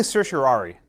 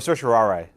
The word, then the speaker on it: certiorari: Everyone, I say certiorari or certiorari, but cert is fine.